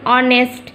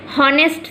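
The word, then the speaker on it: honest: সেই জন্য যে যে জায়গায় বা যে যে ওয়ার্ডের শুরুতে এইচ রয়েছে আর তার উচ্চারণটা সাইলেন্ট, যেমন অনেস্ট, হনেস্ট তো বলি না, অনেস্ট বলি, সেই জায়গায় এই এইচকে আমরা আর কনসোনেন্ট ধরবো না, ভাওয়েল হিসাবে অ্যান বসাবো তার আগে।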